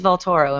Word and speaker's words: Vaultoro: me in on what what is what is valtoro am I pronouncing it correctly you are yeah well it's